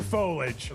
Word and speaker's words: foliage: Is it foliage or foliage? It's foliage. Foliage. It's three syllables.